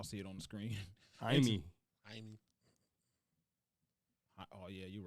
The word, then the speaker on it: Jaime: Upon arrival and after conducting an investigation into what took place, officers found that 32-year-old Jamie Baldo, that name, y'all see it on the screen. Jaime.